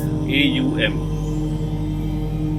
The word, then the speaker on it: Om: The first word, Om, very powerful word. If you try to look at it, it's 3 syllables, A-U-M, and it goes like Aum.